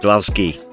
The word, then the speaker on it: Glasgow: Is that pronounced Glasgow or or No, Glasgow.